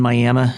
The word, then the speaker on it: Miami: missionary was two old mining communities globe and Miami Arizona not spelled like Miami but pronounced miam and they will